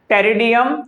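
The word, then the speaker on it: Pteridium: टेरिडियम, terrace and मार्सलिया। ये P silent है।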